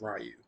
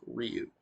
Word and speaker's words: Ryu: The old Street Fighter movie gave it as Ryu, but officially it is Ryu. In Japanese, it sounds a little bit different, but in English, it's Ryu.